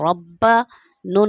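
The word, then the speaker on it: رَبَّنَا: रा बाज़बर रब, बाज़बर बा, रब्बा, नून अलिफ ज़बर ना, रब्बना।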